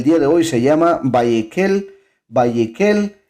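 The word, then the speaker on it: ויקהל: a leer el día de hoy se llama vallequel vallequel y significa y congregó y congregó vallequel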